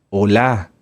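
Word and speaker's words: עולה: los holocaustos que cómo se llama en hebreo holá holá holocausto holá sí no como de Hola No Hola acento en la a y va con h final las ofrendas de oblación de oblación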